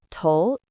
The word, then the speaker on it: 头: Tou is a simplified Chinese character.